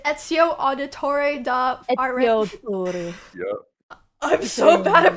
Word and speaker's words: Ezio Auditore: Ezio Auditore. Yeah. I'm so bad at pronouncing things.